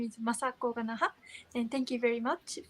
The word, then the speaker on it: Masako Ganaha: Masako Ganaha, did I pronounce that right?